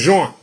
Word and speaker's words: Jean: He said, it's no Gene, it's Jean.